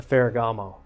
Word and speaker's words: Ferragamo: A Ferragamo.